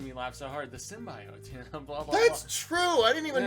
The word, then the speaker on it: symbiote: whatever backstory of the symbiote wasn't that funny how from the original trailer where what's her name mispronounced it as symbio they totally they did